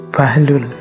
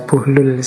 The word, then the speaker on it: Buhlul: Ini ada yang membacanya Bahlul, ada yang membacanya buhlul. Saya milih membaca Buhhlul saja ya.